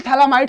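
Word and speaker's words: Phthalimide: आगे बढ़ते हैं, गैब्रियल थैलामाइड सिंथेसिस कुछ उसी तरह का है। बेसिकली क्या है, यहां से इसको हम लोग थैलीमाइड बोलते हैं। ठीक है, PHTH, थोड़ा सा इन यूनिक स्पेलिंग है इसका, PHTHALIMID, थैलीमाइड।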